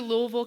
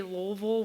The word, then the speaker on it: Louisville: summer I went to Louisville Kentucky they do say Louisville with like two syllables and if you say more syllables than that or if you say Louisville then they'll yell at you so those are the